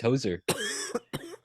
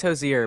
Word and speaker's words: Hozier: of bread I thought his name was just Hoser you're telling me hoser's name isn't just Hoser his last name sozer oh it's Jose it's Hozier but it's his last name oh oh you